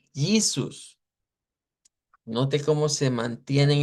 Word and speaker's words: Jesus: Pero en inglés se escribe igual, pero decimos Jesus.